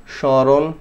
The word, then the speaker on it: স্মরণ: যদি শুরুতে মফলা থাকে, মফলার উচ্চারণ হয় না, নাকে হালকা বাজাইতে হয়, ঠিক আছে? স্মরণ, স্মৃতি, স্মারক, ওকে?